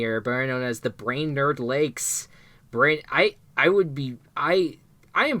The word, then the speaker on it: Brainerd: cabins in the area, better known as the Brainerd Lakes. I am pronouncing it right?